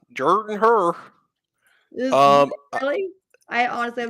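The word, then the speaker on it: Jordan-Hare: hair um Jordan hair I hate I hate the way people pronounce it it's SP it's spelled Jordan hair but it say Jordan Jordan her um really I honestly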